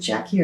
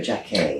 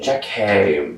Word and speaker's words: Jackie: Is it Jackie or Jackie? Jackie.